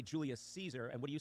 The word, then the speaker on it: Caesar: No, I said Guio Julio Geyser. Okay. And is that correct, Luke? For a classical Latin pronunciation, I think that's very good.